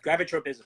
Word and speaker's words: gravitropism: grab a tote but gravitropism gravitropism thank you I'm like I'm missing a syllable they're putting an extra one in and the way you